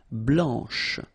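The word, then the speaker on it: blanche: final C and then blanch okay remember when you combine this C you get the sound sh blanch okay so BL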